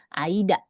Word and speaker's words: 間: Ya, tapi dibacanya karena dia sendirian sekarang dia kita bacanya aida ya. Ya, ini dibacanya aida seperti ini.